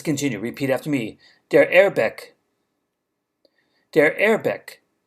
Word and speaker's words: Airbag: repeat after me they're airbag they're airbag notice it's not quite the english word air bag as far as pronunciation is concerned airbag let's continue the